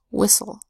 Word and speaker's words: whistle: the second syllable we make the T silent and we just say ul. Cas, ul, castle. Whis, ul, whistle.